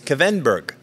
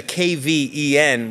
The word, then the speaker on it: Kvenberg: mics so our special guests and I will pronounce her name correctly her first name is Sabine that's easy her last name is kenberg and that's a kven which is tough for us you know English